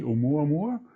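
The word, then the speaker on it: ʻOumuamua: Our latest episode, number 22, featured Professor Avi Loeb talking about, now I try to pronounce it correctly, Oumuamua.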